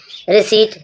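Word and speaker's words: receipt: जब पी के बाद आपको एस मिले जब पी के बाद एस आए तो पी साइलेंट है।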